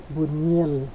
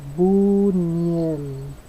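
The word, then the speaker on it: Buñuel: is by Lis bunell Simon of the desert Buel that's how you pronounce his last name Buel um so uh I know he pokes a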